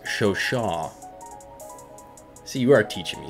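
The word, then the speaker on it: Chauchat: to my comment section i believe it's pronounced show shaw see you are teaching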